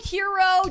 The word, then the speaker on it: gyro: So if I was going to try to tell you how to say it over text, I would spell it H-E-R-O because I pronounce it like hero.